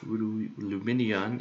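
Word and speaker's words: Lumineon: It's 4 syllables.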